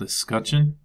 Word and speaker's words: escutcheon: o n if you want to have a pronounce that is called escutcheon it's basically like a seal or something like